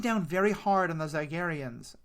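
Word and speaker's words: Zygerrian: very hard on the Zygarians. Am I still saying that wrong? No, I think the Queen pronounces it differently than everybody else does, but most of them say Zygarian.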